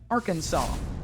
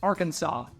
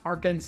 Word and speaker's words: Arkansas: It's legally, since the late 1800s, pronounced Arkansas. There was a discrepancy between 2 attorneys on how it was pronounced versus how it was spelled. It's legally pronounced Arkansas, not Arkansas, nor is it even I had to bleep